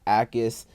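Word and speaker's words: Jacas: Gabe Ais, that's how you pronounce his last name. The J is silent.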